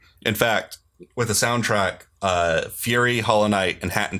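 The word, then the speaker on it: Furi: Yeah, Fury.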